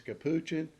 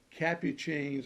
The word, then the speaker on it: Capucine: duds cup cheese been some argument that the pronunciation is Capuchin or whatever it is well I got serious